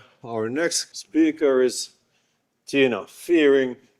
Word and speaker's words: Firing: Our next speaker is Tina Fearing. She says you can also pronounce it firing.